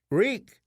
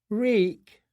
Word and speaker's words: Reek: Ring of iron keys reek tears ran down his cheeks I remember I do his mouth opened and closed my name is Rick it rhymes with leak in the dark he